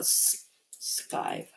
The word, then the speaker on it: skive: Okay, what about skive? I already say it's. How do you pronounce it actually? Is it skive? No, skiv? Or how do you say it? Oh no, it's skive.